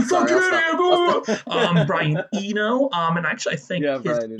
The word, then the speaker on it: Eno: You fucking Brian Eno.